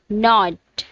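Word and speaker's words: knot: First word is नॉट, second one is knife. इन दोनों में ही के साइलेंट है.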